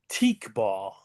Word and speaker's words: Teqball: The name of the sport is teak ball, and I'll spell it for you: Teqball.